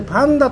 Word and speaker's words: 熊猫: これでパンダと読むんですよね。